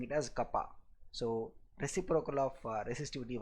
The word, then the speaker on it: kappa: the symbol curved K, which we will be pronouncing it as kappa.